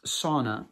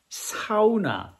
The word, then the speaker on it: sauna: your own in room SAA it's not pronounced sauna no no no you have to say it like the Finnish do which is SAA look at that your